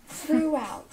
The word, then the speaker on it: throughout: Donc ce mot il est très compliqué effectivement parce que vous avez le TH.